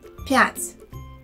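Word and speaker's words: пять: is it of course the right way is to say pat here the letter pa has a soft sound p and the letter t is solved too notice that there is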